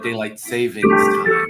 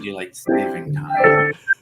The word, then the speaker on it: daylight saving time: want to apologize that most people mispronounce it and call it daylight savings time when it's actually daylight saving time. I know it causes confusion, that little S, it's very hard.